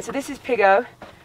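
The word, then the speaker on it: Pigow: All right, so this is Pigo. Spelt P-I-G-O-W, but pronounced Pigo, P-I-G-G-O.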